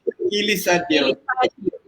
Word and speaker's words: Quilisadio: Hindi ko pala nakuha yung correct pronunciation ng last name Quilisadio. mo. Quilisadio.